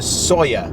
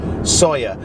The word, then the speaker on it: Sóller: a city but today we are going to sawyer i know that's how you pronounce it because i asked a waiter sawyer and we're going there today uh through the